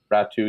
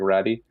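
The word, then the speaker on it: Räty: then realized that Ratu, I think his name is actually pronounced Ratu, even though it looks like Ratty.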